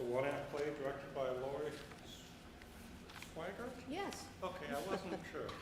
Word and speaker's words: Swigert: It's a one-act play directed by Lori Swigert? Yes. Okay, I wasn't sure. Yes. I've always pronounced it that way. Is that correct? Swigert.